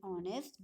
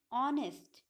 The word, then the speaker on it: honest: The word R and honest begin with the vowel sound, as the initial consonant H is not pronounced. We have not pronounced the initial consonant, which is H, and R, and honest.